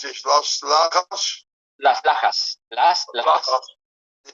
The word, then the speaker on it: Las Lajas: No, I have to pronounce it differently because this is not Las Jas, of course. How do you pronounce this? Las Lajas?